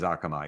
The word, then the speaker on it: Akamai: you've been CEO of akami is that how to how it's pronounced it is Akamai yeah and I didn't